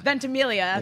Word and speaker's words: Ventimiglia: I wonder if the mystery of Milo Ventimiglia, and I'm probably totally mispronouncing his name. Ventimiglia. There you go.